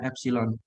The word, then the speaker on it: epsilon: Rasio perbandingan antara delta L terhadap L inilah yang disebut strain atau renggangan, yang dilambangkan dengan huruf E itu bacanya epsilon.